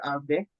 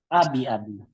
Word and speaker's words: Abi: Tama ba pronunciation ko ng pangalan mo, Sir Abe? Tama ba? Abi.